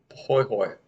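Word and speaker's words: pahoehoe: we can talk about the poi hoy is the pronunciation on this one kind of a smoother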